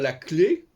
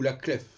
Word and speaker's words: clef: Par exemple, est-ce que je dois dire la clé, CLEF, ou la clef?